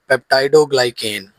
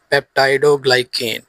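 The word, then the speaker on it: peptidoglycan: तो cell wall of bacteria is composed of पेप्टाइडोग्लाइकेन। अब यहाँ पर ना बच्चों को इसकी प्रोनाउंसिएशन नहीं आती है, प्रोनाउंसिएशन यानी कि तलफ़ुज़। पेप्टाइडोग्लाइकेन, पेप्टाइडोग्लाइकेन ये एक ऐसा केमिकल है, a complex material made of amino acids and sugars।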